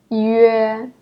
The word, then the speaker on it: yue: You pronounce the first letter, yu, and the second letter, ye, and then combine them together, yue, yue.